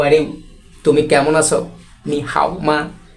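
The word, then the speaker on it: 你好吗: টোনটা উচ্চারণ কেমন করে এর উচ্চারণ ভঙ্গিটা হচ্ছে উপর থেকে নিচে নিচ থেকে উপরে তাহলে উচ্চারণ করবা কেমন করে নি হামা নি হামা ওকে হাউ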